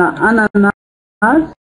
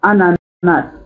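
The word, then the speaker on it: ananas: Alors, بالنسبة أنا قلت قبل قليل أن أناناس هناك من ينطقها أنانا وهناك من ينطقها أناناس. إذا ممكن أن أقول أنانا وأنانا، لكن في الحروف الأخرى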